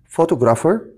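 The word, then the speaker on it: photographer: ملابس مصور فوتوغرافي بنقول فوتوجرافر تاني فوتوجرافر تاني فوتوجرافر خلي بالك حرف البي اتش هنا بنهم زي صوت الاف يبقى هنا دول بيدوني ساوند زي ساوند صوت الاف طيب حفله او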